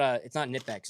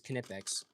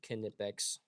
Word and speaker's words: Knipex: Knipex, you do actually have to pronounce the K. It's not Knipex, it's Knipex.